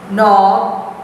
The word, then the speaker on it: knob: Going on to the next page, pronunciation, silent K. The K is not pronounced. Repeat after your teacher. Knack. Please don't say knack. K is silent. Knack. Knob.